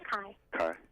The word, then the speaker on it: Kai: This is Kai. Kai. And Hi, how are you? Do you spell it K-I-A?